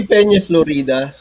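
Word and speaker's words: Peñaflorida: How do you say it? It would be Peña, Florida, Peña, Florida.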